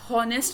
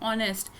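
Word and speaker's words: honest: इसको आप हॉनेस्ट नहीं पढ़ेंगे। यानी हे से इसकी आवाज नहीं निकालेंगे। ये है ऑनेस्ट। इसकी आवाज ए से स्टार्ट हो रही है।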